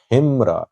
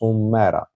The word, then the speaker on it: Humera: In the last video, I requested you to guide me about the pronunciation of Humera. And people said it's not Himra, it's Humera.